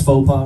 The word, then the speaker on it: faux pas: did I pronounce faux pas right?